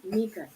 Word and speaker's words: Nika: Say Nika, not.